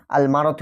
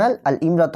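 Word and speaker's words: المرأة: এটা তোমরা মনে রাখবে যে ইমরাতুন শব্দের শুরুতে যদি আলিফ যুক্ত হয় সেক্ষেত্রে শব্দটি পরিবর্তিত হয়ে আলমারত হয়ে যায়। ওকে? এটা একটা এক্সেপশনাল। তোমরা এটা মনে রাখবে। আলমারত তখন আল ইমরত হয় না।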